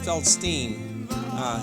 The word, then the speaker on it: Feldstein: uh popular Israeli music Hebrew and then Jonathan feldstein feldstein he pronounces it we'll be here Sunday May 28th